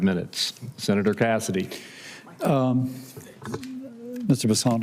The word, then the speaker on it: Bessent: Bessent, I'm always going to pronounce your name as if it was in South Louisiana, and I'm going to pronounce it with a French Bessent as opposed to Bessent. That's what those folks in South Carolina do.